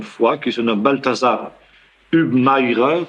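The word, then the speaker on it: Hubmaier: qui se nomme Baltazar UBI comme on dit en allemand H U B M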